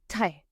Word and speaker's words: très: The letter E with a grave accent should be pronounced like the E in the English word said. So if you take the F and the D away, you're left with E. So très.